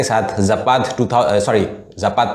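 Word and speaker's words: Zapad: But actual word जो है वो जापात था।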